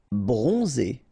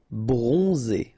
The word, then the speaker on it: bronzé: Bronzé, so O-N, on, and then Z, it's really pronounced like Z. Bronzé, bronzé.